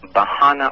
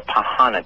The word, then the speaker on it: Pahana: His name is Bahana or Pahana, depending on the accent of the individual.